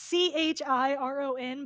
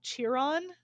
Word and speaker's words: Chiron: i see his name because it's c-h-i-r-o-n but that's not how it's pronounced it's chiron not cheer on every time i see